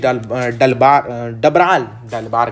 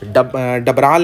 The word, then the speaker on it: डबराल: तो संगीतकार ओके, मंगलेश डलबार कहता हूँ मैं, मेरा भी प्रोनाउंसिएशन ही मंगलेश डलबार कहता हूँ मैं। मंगलेश डबराल ने ये चैप्टर लिखा है आप लोगों के लिए, खूबसूरत सा चैप्टर है ये।